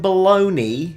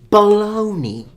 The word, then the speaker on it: Bologna: I understand that a lot of Italian words finish with an I and are pronounced ni, like Panini, Armani, but there is a GNA. How on planet Earth can that be baloney?